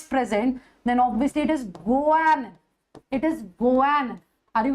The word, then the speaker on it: guanine: So see, adenine, guanine. This is how we pronounce it. Guanine.